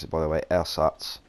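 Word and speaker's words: Ersatz: no threat so I take out the air SATs m10 but he's actually how you pronounce it by the way air SATs it's German a lot of people saying s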